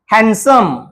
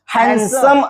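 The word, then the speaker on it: handsome: चुकीचा अर्थ होत असतो हसम असा उच्चार आपण त्याचा करत असतो या ठिकाणी सुद्धा जो काही डी अक्षर आहे तोडी अक्षर सायलेंट आहेडी आपलं कार्य करत नाही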